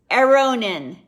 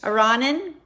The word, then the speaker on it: Aronin: you name it howard arronen did i pronounce it correctly pretty close pretty close iranin some people say ronin like macaroni beeforonin what do you